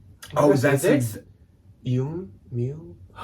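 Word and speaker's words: Yume: It is spelled Y-U-M-E, Y-U-M-E. It almost sounds like Mew Mew. Yum. It sounds like if you played Mew Mew in like reverse. Oh, that's it? Yum Mew.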